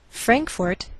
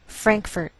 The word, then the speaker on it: Frankfort: another language topeka kansas frankfort kentucky now some americans may change the second syllable of the capital and you may hear frankfurt do you hear the difference baton rouge louisiana now